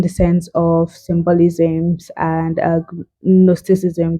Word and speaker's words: Gnosticism: sense of symbolisms and nosticism the J is silent.